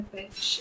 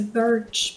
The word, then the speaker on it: birch: I always think of it as a bitch tree, but it's not a bitch. It's a birch.